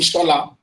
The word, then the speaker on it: Shola: Well, you can call me Shola.